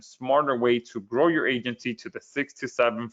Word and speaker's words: Aigency: I'm introducing you today to Agency Valet. Uh the I is silent. All right. It's just there for pretty much uh visual aesthetics.